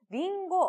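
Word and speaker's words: りんご: 분들 과일을 함께 체크를 했었던것 또 기억하실 겁니다 링고 어려운 단어는 아닌 데 그쳐 사고 알아냈고 요자 발음이 조금 조심을 해야 하는 부분이 있죠 링고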